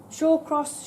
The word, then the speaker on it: Shallcross: all say hall or manner we all say shall cross or shore crosses somebody's asked me it doesn't really matter shaw cross shall cross there were 36 different pronunciations and names coming out of the word